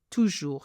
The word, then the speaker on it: toujours: Z sound, n'est pas toujours simple. Now, we don't pronounce the S, we don't pronounce toujours the S of toujours.